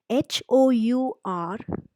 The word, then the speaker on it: hour: If there is an H which is not pronounced, for example, an hour, HOUR, though it begins with H, the H is silent.